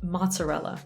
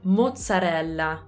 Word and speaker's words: mozzarella: we say it so in english we would say mozzarella in italian on the other hand we say mozzarella mozzarella as you can hear the vowels are completely different and we have some